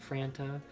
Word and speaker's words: Franta: there is connor franta is that how you say it franta fanta like the soda so connor franta was